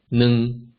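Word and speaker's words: 二: I'll pronounce each number 2 times with a short pause between each number. And if you like, you can make use of this to practice the tones that we've just learned earlier.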